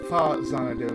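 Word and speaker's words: Faxanadu: Yes, I said Fa-Xanadu, not Fat-Xanadu. Because Road pronounced Fa-Xanadu.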